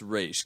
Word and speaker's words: Ra's: what I've researched this I believe it's race because it's Egyptian and that would be